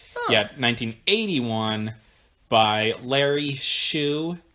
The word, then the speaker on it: Shue: Yeah, 1981 by Larry Shue. It's spelled S-H-U-E, so it's not like a shoe that you wear on your foot.